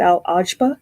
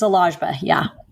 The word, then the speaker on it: Al-Agba: pronouncing your name wrong is it al ajba it's a lajva apologies and dr bernard